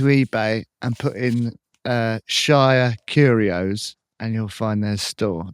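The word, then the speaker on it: Shire Curios: To find them, you need to go to eBay and put in uh Shia Curios and you'll find their store.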